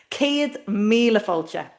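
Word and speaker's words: céad míle fáilte: And we hear that long a in the first word. Ced here. And then the long i. Mila. And the long o. Fulture.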